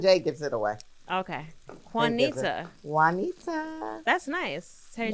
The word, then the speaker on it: Juanita: one hint okay it the J is silent Juan keep going Juanita